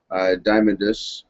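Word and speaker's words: Diamandis: Uh, next story we'll cover here is uh, one from CoinDesk uh, about the X-P prize founder Peter H Diamondis is I believe that's how you pronounce it is swapping out his gold for Bitcoin.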